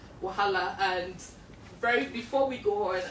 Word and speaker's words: Wahala: It's called Wahala. Okay, so that's more Yoruba-ish, right? Yeah. But a more colloquial or generally acceptable way of pronouncing it is Wahala. Wahala.